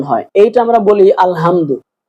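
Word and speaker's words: الحمد: এই যে এই যে এটা আমাদের বড় হালকের মাঝখান থেকে উচ্চারণ হয়। এইটা আমরা বলি আলহামদু।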